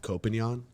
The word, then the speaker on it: Koppenjan: It's pronounced Koppenjan. Jan. It's Dutch.